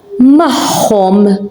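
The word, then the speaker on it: magħhom: Tachom, tachom, or mahom, with them. As you can hear, I'm saying mahom. You can hear an H.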